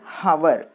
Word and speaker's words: hour: In the word hour, H is silent. Okay, understand? In the word hour, H-O-U-R, hour, we should not pronounce it as hour, but this H is silent.